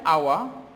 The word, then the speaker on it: hour: An hour, here h is silent.